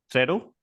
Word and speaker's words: Threado: Is that how we pronounce it? Threado? Yeah, that's exactly how it's pronounced.